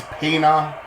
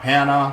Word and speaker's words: Pana: Central Illinois I see it's Pana not Pana sorry so thank you for